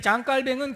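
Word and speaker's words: 장 칼뱅: 스위스 제네바에서 활동을 했는데, 그래서 영어식 발음으로는 존 칼빈이라고도 말하고요, 우리나라에는 미국에서 공부하신 목사님들이 많아서 존 칼빈이라는 말을 많이 쓰고요, 원래 그분 출생, 이 장깔뱅의 출생지의 발음에 따르면 그냥 장깔뱅이라고 말하는 것도 좋습니다. 표준어는 장깔뱅입니다.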